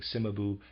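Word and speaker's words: Cimabue: Heavenly in their pictures readers aside I am pronouncing simabu c-i-m-a-b-u-e I apologize for my pronunciation simabu and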